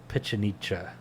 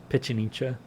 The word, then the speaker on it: Pichincha: But victory at the Battle of Pichincha, yeah, I think I'm pronouncing that right, Pichincha, on May 24th, 1822, kicked all of the